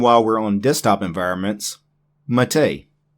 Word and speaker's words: MATE: And while we're on desktop environments, Mate. It's Mate. It's not mate. I know in the English language, M-A-T-E is mate. This is actually Mate in Italian, which is where the word originates from.